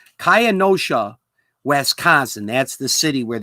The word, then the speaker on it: Kenosha: How do I pronounce this? I have this written down here. Oh, Kaya Nashawa. That's the name of the city here. Kenosha, Wisconsin. Kenosha. I have to go slow with this. It's Kenosha, Wisconsin.